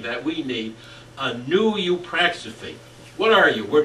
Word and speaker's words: eupraxophy: I call it eupraxophy. Now, can you pronounce that, please? Eupraxophy.